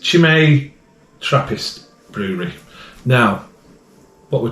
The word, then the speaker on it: Chimay: Sunday we have got shimay or shimay don't know how you pronounce it to be honest chimei is the way I'm going to say it and it's she may Trappist Brewery now what